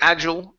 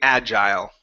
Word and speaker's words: agile: very good now um there are two ways to pronounce this word you can say agile or you can say agile okay this is one of those words like tomato tomahto it just depends on where you grew up personally I say agile but it does not matter you can say agile or agile so using the long I or using a short I okay no big deal